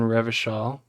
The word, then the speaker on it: Revachol: Okay, so we live in Revachol. If it doesn't rhyme, you're not pronouncing it right.